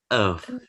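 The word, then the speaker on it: œuf: Nah, penggunaan dari huruf O ini contohnya adalah bahasa Perancisnya telur ya, telur itu bahasa Perancisnya itu bukan oeuf tapi euf ya, euf ya, euf.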